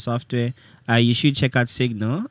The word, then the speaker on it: SIGNL: you should check out Signal. It's spelled as SIGNL. SIGNL. And L. On Twitter, we're SIGNL Labs. Nice. So do you check it out? SNL, SNLG. SIGNL Labs. So it's Signal without the A.